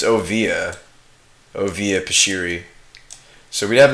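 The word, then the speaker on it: Oviya Pashiri: I can never pronounce her name. It's Ovia Pashiri.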